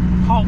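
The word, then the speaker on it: Hauppauge: on the island and she told me how to pronounce it yesterday it's hog hog I've been struggling with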